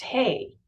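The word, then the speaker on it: ה: The Hebrew letter assigned to this key is E, or silent H, Heh. It's pronounced Hey.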